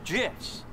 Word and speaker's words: GIF: the graphics interchange format Steve Wilhite says it's jiss choosy developers choose gifs they kill the guy